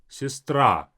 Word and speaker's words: сестра: Open the mouth for ah, сестра.